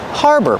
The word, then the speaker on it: harbor: Harbor, pronunciation. Use the R sound like far and car, har. And the second syllable is like burger. Together, harbor.